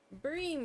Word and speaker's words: bream: Bream, we gotta go catch more bream. Cause bream rhymes with dream.